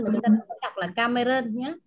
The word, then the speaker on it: Cameron: Ví dụ như là danh từ riêng thì chúng ta không chuyển các bạn nhé. Danh từ riêng thì chúng ta không đọc là Cameron mà chúng ta đọc là Cameron nhé.